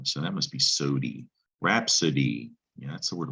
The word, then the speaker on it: rhapsody: really long poem rhapsodia see the i and rhapsody in latin we still have that eyes that that same sound rhapsody that i is making a long e sound isn't it but